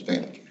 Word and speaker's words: FANUC: Talking about a piece of NC equipment, it is FANUC. And if you're talking about a robot, it's FANUC.